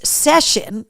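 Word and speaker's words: Seisiún: No, it's session, which is how you pronounce that Gaelic word.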